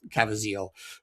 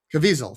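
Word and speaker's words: Caviezel: It was poor Ben Chaplain, who I thought was Jim Cav Caville. Cazaville, I forget how to pronounce his name. Cavisel, thank you.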